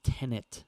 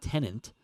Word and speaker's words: Tenet: I think it's Tenet. I never know how to pronounce it. It's not Tenant. Oh, It's Tenet.